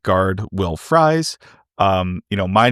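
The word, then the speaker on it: Fries: is right guard Will Fry. Um, you know, It is spelled R I E S just like Will Fry's last name. He pronounces it Fry.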